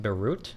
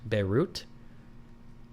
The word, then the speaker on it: Beirut: The T in Beirut is pronounced Beirut. Beirut.